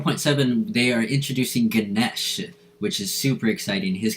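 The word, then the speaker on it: Ganesha: confused by his name it is spelled with an A at the end but it is pronounced Ganesh not negate Ganesh and he is a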